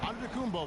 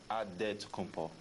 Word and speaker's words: Antetokounmpo: In the Greek way, you gotta say with a D, so it's Antetokounmpo. But in the Greek way, you say with the NT, like Antetokounmpo.